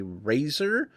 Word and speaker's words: Razer: it's a gaming mouse it is a razor R A Zer is how they um is how they spell that we have the v3x hyperx